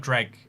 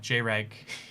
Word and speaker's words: Jreg: I have heard of dreg uh jreg that's it's definitely how you say it um yeah I like